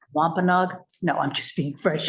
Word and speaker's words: Wampanoag: And maybe we could have a brief thing on how to pronounce Wampanoag. No, I'm just being fresh ahead. Not you. Wampanoag, not Wampanoag.